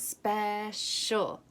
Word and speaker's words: special: So special, so Okay, special is a really tricky word. 2 syllables, special. It's really silly how it's spelled, so you can completely stretch it out.